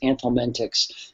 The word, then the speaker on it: anthelmintics: seen ant helminthics, and some people spell it A-N-T-I-H-E-L, anti-helminthics, but the common way of saying it is anthelmintics, and those are the drugs used against the helminths.